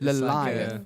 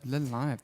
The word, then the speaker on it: Lilith: Is that correct? Yeah. Is that how you pronounce it? Lilith. It's Lilith. Lilith. That's so it's cool. an Elvish word.